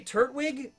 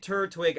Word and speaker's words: Turtwig: I say it Turtwig. I think that's the proper way to say it now that, because it's like twig, right? But like turtle twig.